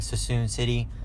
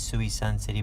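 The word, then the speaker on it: Suisun City: Had a great gym, CrossFit Sassoon City. I believe that's how you say it. I normally say it's Sui Sun City, but they tell me it's Sassoon City.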